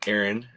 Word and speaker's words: Aaron: Erin. Yes, Bryant. That is how to pronounce my name.